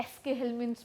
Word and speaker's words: Aschelminthes: क्योंकि हमें एस्केल्मिन्थेस नामक एक नया विषय शुरू करना है। बहुत से लोग इसे एशे-हेल्मिन्थेस भी कहते हैं। वैसे, उच्चारण की दृष्टि से हम इसे एस्केल्मिन्थेस या एशे-हेल्मिन्थेस कह सकते हैं।